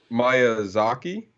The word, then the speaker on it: Miyazaki: right okay Ghibli um my uh is it Maya Zaki nobody said Miyazaki um said that how do